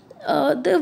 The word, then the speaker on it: the: तो लेट me tell you, अगर THE किसी वॉल साउंड से पहले आता है तो हम उसको क्या प्रोनाउंस करते हैं, दी.